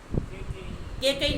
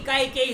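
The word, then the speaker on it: कैकेयी: के कई नहीं, काय कई है ये।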